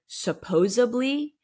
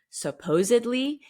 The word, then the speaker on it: supposedly: But the people who use phrases almost correctly, but not quite correctly, like using the word supposably instead of supposedly, is like, what the fuck?